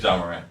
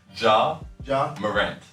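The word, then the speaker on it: Ja Morant: j.a warren is so funny his name is john moran oh draw a rant i'm sorry for butchering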